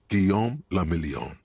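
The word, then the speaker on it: Guillaume Le Million: Gon Lamelon. If it doesn't rhyme, you're not pronouncing it right.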